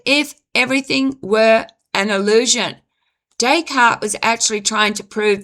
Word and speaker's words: Descartes: This is why the philosopher, it was a French, Rene Descartes or Descarts, famously concluded, "I think, therefore I am." Decart, sorry. I mispronounced his name. Rene Decart.